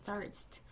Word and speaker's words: tsarist: 이거 tsarist라고 이 발음 기호를 보면 이거 Z로 이렇게 읽거든. Z로 읽거든. 그지? tsarist.